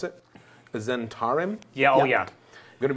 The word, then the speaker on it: Zhentarim: Pronounce it. Zentarim.